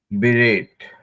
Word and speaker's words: berate: बिरेट, जैसे मेरा नाम है ना, वैसे बिरेट है वो, बिरेट। तो इसको आप सिंपल बोल सकते हैं बिरेट।